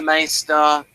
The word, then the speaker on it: maester: got the Masters here he wants to be a maer ma right he's which it's a bit of a dip thong I think it's m AE it's a MAA which is just for like a um maybe it should be pronounced mea for no ma ma is right yeah yeah that's for